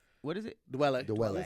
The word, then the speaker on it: Dwele: Dwele. Dwele. You said it That's right. what I said. Dwele. Dwele. I just wanted to correct you. You just said Dwele. You added an extra syllable.